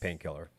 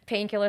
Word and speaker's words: Painkllr: the exact same yes painkiller yes uh personal Instagram I mean if you want to follow me it's painkiller spelled the same way p a i n k l LR and then my name